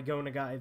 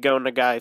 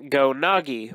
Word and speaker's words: Go Nagai: myself a pretty big Go Nagai fan, but for the past 2 years since I first got into him, I've been pronouncing his name Go Nagi, which is completely incorrect.